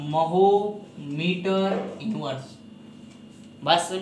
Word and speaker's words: mho: ओम spelling होती है OHM, और इसका उल्टा होता है, इसलिए इसका मात्रक बना दिया गया MHO, महो। बात समझ में आ रही है।